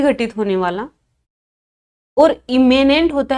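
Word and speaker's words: immanent: 3 words हैं, एमिनेंट, इमिनेंट और इमेनेंट।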